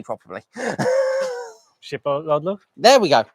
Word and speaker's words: Skidbladnir: Skipbladler. There we go. say that again. Skipbladler. Sheep-blooded. ship, Sheep. lad, near. Yeah, Skidbladnir. Skidbladnir. Ah. Skidbladnir. And that's spelled, I have to spell it now.